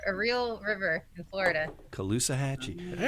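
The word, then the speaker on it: Caloosahatchee: time how do you say how do you pronounce it K hatchee kaloa hatchee it's named after a real River in Florida kaloa hatchee all right have you uh have you uh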